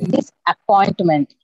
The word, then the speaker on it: disappointment: It is in the third syllable. Third. Yes. Okay. Disappointment.